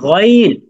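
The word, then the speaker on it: غين: আইন আইন আইন মাশাল্লাহ মাশাল্লাহ তারপরে হরফটা হচ্ছে গইন বলুন এটা কি গাইন আইন গইন হ্যাঁ মাশাল্লাহ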